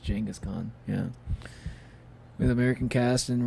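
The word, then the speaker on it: Genghis Khan: I guess it's not pronounced Genghaskhan, but I'm pretty sure it's pronounced Jangaskhan.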